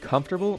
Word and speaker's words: comfortable: about this word first the first and last syllable come and bull both make sense it's the middle one two one it's the middle one that makes no sense come fur bull fur